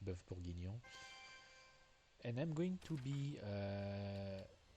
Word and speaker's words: bœuf bourguignon: Also, yeah, so it's pronounced in French. It's pronounced bœuf bourguignon, and I'm going to be real.